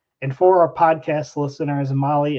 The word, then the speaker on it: Mahle: And for our podcast listeners, Mali is spelled Mahle.